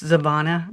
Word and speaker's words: Zavana: In Paisley's world, one voice, the dominant is, it's Zavana. Did I say it wrong? Zavana. Zavana. Zavana. Zavana. Sorry. I think of Savannah Guthrie. So that's where It's spelled almost the same.